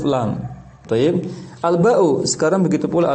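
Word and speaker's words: لام: Namanya bukan huruf li, tapi huruf lam.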